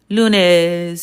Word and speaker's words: lunes: So when we said the word lunes and luna and you know deso stuff like that um at the same still time then yes absolutely it's going to have the ooh sound.